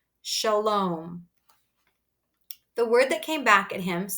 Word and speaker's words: Shalom: meinart shook his head no no not shiloom Shalom that's a Longo like home say it clearly with